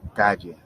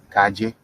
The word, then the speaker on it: calle: Calle, calle. Oftentimes, you may hear people even pronounce it with like a soft J sound, calle.